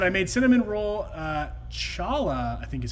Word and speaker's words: challah: teacher devorah said I made cinnamon roll uh Chala I think is how you say this bread